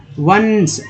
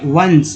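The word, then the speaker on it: once: तो वंस, ऑन्स नहीं बोलेंगे, वंस वंस वंस, ठीक है, वंस है ना, वंस पढ़ेंगे।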